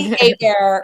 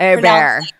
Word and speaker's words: Hebert: Bobby Hebert. Hebert.